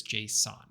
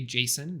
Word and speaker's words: JSON: The inventor, Douglas Crockford, intended for it to be pronounced like the name Jason, but a lot of people pronounce it as JSON, which is what I've been saying here.